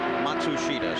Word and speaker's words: Matsushita: the truth is that the family name Matsushita. But as Hiro comes to the United States, he would really prefer now, he says, for all of us to pronounce his name as Matsushita.